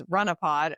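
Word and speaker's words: Runahpod: So maybe uh but um if you'd like to find my podcast that is Runnopod spelled the way that you think it would be pronounced if you're from Massachusetts which is R U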